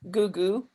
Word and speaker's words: Googoo: pronounce it basically you know the way you pronounce my last name gugu and you put ques at the end so